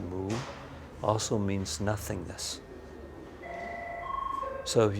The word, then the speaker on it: mu: So in the Zen tradition, woo or in Japanese they pronounce it moo also means nothingness.